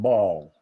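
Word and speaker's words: Baal: of the great God ball some people pronounce it Bell because it's b-a-a-l but if he got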